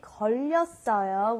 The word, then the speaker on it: 걸렸어요: Okay, when we say 걸렸어요, we have the 받침 르, and you carry it over to the next syllable, and sometimes a lot of foreigners kind of get this a little confused.